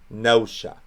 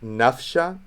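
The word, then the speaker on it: ܢܦܫܐ: gets softened fix that it's pronounced nosha so here we would have that pronounced nosha let's do it again this time with the proper syriac script sorry i'll try to make future videos a bit smoother with the script transition so that would not be pronounced nafsha it would not be pronounced napshot they pronounced that p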